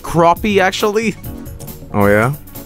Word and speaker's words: crappie: It's pronounced crappie, actually.